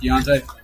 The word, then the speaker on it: Dante: So this is honestly really minor, and I don't know if you even care like that, but Dante Craig, his name is pronounced Deontay? Yeah.